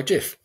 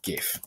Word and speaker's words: GIF: Okay, so I've now got my first slide that is going to be part of my GIF or GIF. I'm a hard G person, some people not.